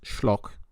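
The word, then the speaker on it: Schölch: the late alexander and i think the names pronounced shlok in his masterful study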